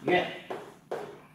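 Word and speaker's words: 院: Bộ nguyên, cái này đọc là yue.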